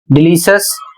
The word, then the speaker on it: delicious: अगला शब्द है DELICIOUS, डिलीशियस।